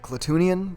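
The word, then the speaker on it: Klatooinian: we also have the clattonian raider or is it cletunian that's how they say it in book of boba fett but it's spelled clad twinion either way this is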